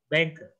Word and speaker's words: banker: Ya, makanya itu banyak banker. Banker. R-nya nggak usah dibaca.